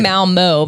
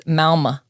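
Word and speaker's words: Malmö: malma what is it i was saying malmo but evidently there's like two dots over the oh so it's malma ah well i'm glad that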